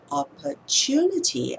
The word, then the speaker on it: opportunity: When we say the word opportunity, and because in this particular word, the syllable we emphasize is the third syllable, it's not the first syllable.